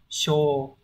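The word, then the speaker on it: 傷: Chữ này sẽ đọc là sho thay vì là sô này.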